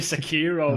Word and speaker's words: Sekiro: Yeah, I found out it's actually Sekiro. Oh, that's how they say it in Japan. They can fuck off. That's how they say it in Japan. So apparently that's the official way to say it.